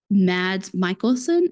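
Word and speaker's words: Mads Mikkelsen: think it was like they should have had mads Michaelson see that's how you say his name um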